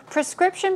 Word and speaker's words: prescription: Prescription pronunciation is prescription. Stress goes there.